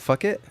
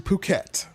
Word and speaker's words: Phuket: Oh, it's not fuck it? It's actually Phuket. That's how they pronounce it. Okay. Yeah, it's actually Phuket.